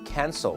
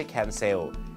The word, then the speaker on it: cancel: เขา ไม่ ยก เลิก ต้อง ออก เสียง ว่า cancel นะ ครับ ไม่ ใช่ แขน เซลล์ เดียว ฝรั่ง จะ ฟัง ว่า